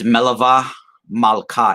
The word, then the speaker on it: Melave Malkah: You know, this is they have a Jewish observance, a ritual that's done that they call Melave Malkah. It's spelled Melaveh, and it's Melava Malkah, Malkah, And this is basically, aside from the